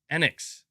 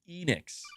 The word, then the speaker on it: Enix: pragmatocat you're saying MBG it's pronounced Annex not Enix Chad is this true